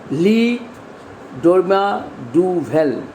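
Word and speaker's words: Le Dormeur du Val: Naturally, the poem was originally written in French, and its French title is Le Dorma du Val.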